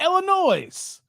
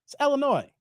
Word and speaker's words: Illinois: right now this is Illinois that is supposed to be silent at the end not Illinois Illinois like noi o o n o i the S is silent before you say I'm